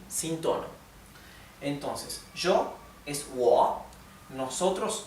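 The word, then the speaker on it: 我: Bueno, el pronombre para decir yo es wo, wo. Parece como si terminara en A, parece como si fuera wo a, ¿sí? Es que la O con el tono baja y sube es wo, parece que fuera con A al final.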